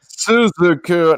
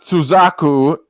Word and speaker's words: Suzuku: And that was Suzuku by Nitro Furano, which It's Suzuku, not Suzaku.